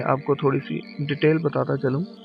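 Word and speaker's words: ث: इस लेटर के बारे में आपको थोड़ी सी डिटेल बताता चलूं कि ये जो सा है, इसको प्रोनाउंस करने के लिए यानी इसका मखरज अदा करने के लिए आपको क्या करना है।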